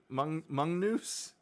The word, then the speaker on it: Magnus: Oh, it's pronounced mongoose.